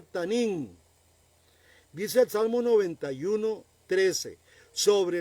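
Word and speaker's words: תנין: Ese monstruo en hebreo se pronuncia tanín.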